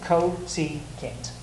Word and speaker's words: cosecant: Oh, cosecant. Exactly, each syllable, cosecant.